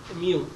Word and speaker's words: mu: use x bar here we use Greek letter mu this is pronounced as Mu so mu is the sum